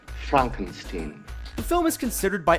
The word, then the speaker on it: Frankenstein: comedy by the name of Young Frankenstein it's pronounced Frankenstein the film is considered by anyone with good